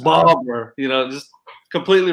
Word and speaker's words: Barbour: okay you know nothing yeah I was completely wrong it's Barbara just Barber you know just completely